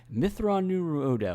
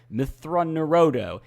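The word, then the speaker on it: Mitth'raw'nuruodo: tells him his name, and Anakin tries to pronounce it and repeatedly gets it wrong, and Thrawn's like, Mithra Nuru Odo, and Anakin's like, Mithra Nurodo, and he goes, Mithra Nuru Odo, and Anakin goes, that's what I said.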